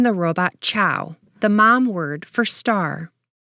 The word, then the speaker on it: Che'w: Another linguistic quirk is the way that Chow is spelled. It's CHE apostrophe W. So the apostrophe has a meaning in the pronunciation because it's one of those things that doesn't exist in English or Spanish.